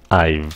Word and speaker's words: I've: So phát âm nó là âm V, nó là I. Oh, Jesus. I've like that.